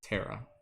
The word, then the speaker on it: Terra: It's almost like Terra, as in like Earth and stuff. So if I pronounce it correctly, then I think it would be Terra.